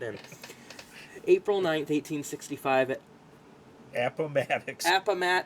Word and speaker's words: Appomattox: April 9th, 1865, at Appomattox. not what I would have said, Appomattox Courthouse in Virginia. The Civil War, I was trying to pronounce it like approximate.